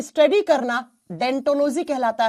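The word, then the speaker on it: Odontology: लिखा जाता है ओ से। इसकी स्पेलिंग ओ से होती है। लेकिन जब आप प्रोनाउंस करते हो ना आप अनुवादन करते हो ना तो बच्चा ओ साइलेंट हो जाता है और बन जाता है डेंटोलॉजी।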